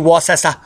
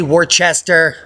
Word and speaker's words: Worcester: You could say Worcester. Worcester. I know you want me to say Worcester. That's not how it's said, unless you live there. Because I lived near Worcester, PA. Worcester. So it depends on your dialect.